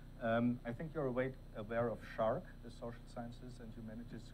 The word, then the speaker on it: SSHRC: But I think you're aware of SHARC, the Social Sciences and Humanities Research Council of Canada. SHARC, yeah. Did I pronounce it wrong? No. Okay, SHARC.